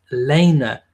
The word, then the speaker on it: Lena: Nuggets Pelt Lena LP and egg but it's pronounced Lena as in la y na so it's spelled